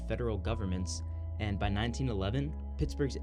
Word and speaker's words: Pittsburgh: Even today, the spelling of Pittsburgh is confusing for a lot of Americans, especially if you're not from here. It remains one of the few towns or cities pronounced burg that ends in an H.